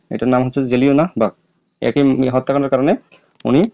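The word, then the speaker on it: Jallianwala Bagh: যে জেলিওনা বাহ হ্যাঁ এটার নাম হচ্ছে যে জেলিওনা বাঘ এটার উচ্চারণটা হবে এরকম উচ্চারণটা সঠিক ভাবে তোমাদেরকে বলতে হবে এই যে এটার নাম হচ্ছে জেলিওনা বাঘ একই হত্যা এর কারণে উনি ন্যাটস উপাধিটা প্রত্যাখ্যান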